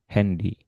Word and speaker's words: Handy: Paling yang jadi variasi itu kadang kalau ada yang bahasa Inggris itu kadang ternyata ikutnya cara baca bahasa Inggris ya.